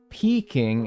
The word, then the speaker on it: Peking: Peking is pronounced like pecking.